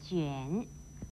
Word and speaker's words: 卷: 卷又念卷，国语注音是鸡圆卷三声卷。